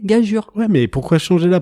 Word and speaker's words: gageure: Mais pour préciser aux nuls que nous sommes, qu'on dit bien gageure. Mais ça s'est toujours écrit pas, ça a toujours été prononcé gageure.